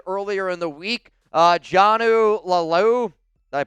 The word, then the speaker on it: Laulu: Jonnu Laulu, did I pronounce it right? Laolu, that's it.